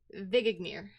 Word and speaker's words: Vindagnir: So the last domain we'll be talking about today, I was practicing how to say this before stream. The peak of Vindagnir. Vigignir. Yes, that sounds better than how I was pronouncing it earlier.